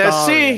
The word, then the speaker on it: Astarion: Name wrong. It's Astarion? Astarion. Astarion. Oh, It's not pardon Astarion.